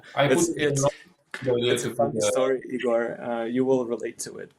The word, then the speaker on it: Ihor: And so, their assumption was that name Ihor with H would be pronounced more like Eeyore.